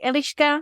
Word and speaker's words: Eliška: So my name is Eliška. This is how we would pronounce it in Czech, Elishka. It's E L I S K A. But the S has a little hook above it and this makes a /ʃ/ sound. So it's like an English SH.